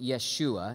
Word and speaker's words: Yeshua: guys I'm Jewish so I'm probably gonna slip into just saying Yeshua now when I say that don't say god bless you that's not a sneeze that's how we say his name in Hebrew okay so if you're okay